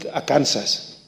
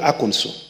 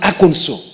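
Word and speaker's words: Arkansas: went to aono I know people call it AAS it's not called a is called aono in fact they have passed a law on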